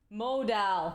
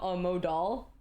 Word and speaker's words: modal: Dy cotton model modal modal modal die cotton modal I said it wrong he literally typed Mo mod doll dude why is it D fine mod doll I said it wrong again okay I'm